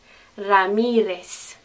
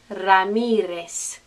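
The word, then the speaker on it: Ramírez: the correct spanish pronunciation ramirez ramirez you try it ramirez are you saying s instead of z ramirez okay same thing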